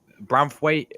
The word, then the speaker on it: Branthwaite: I thought that Branthwaite is actually how you say his name.